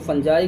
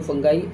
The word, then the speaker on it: fungi: और इसको कई लोगों ने, आपने सुना होगा, फंगी भी बोलते हैं, कुछ लोग फंजाई, कुछ लोग फंगाई। All pronunciation are correct, सारे प्रोनाउंसिएशन इसके करेक्ट हैं, इसलिए कोई इसमें टेंशन लेने की ज़रूरत नहीं है आपको।